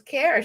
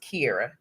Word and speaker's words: Kara: me funny when I tried to tell people that my name was Kara. She goes, "Well, really, the way that I think she said the way that the e is used, it should be pronounced Kira."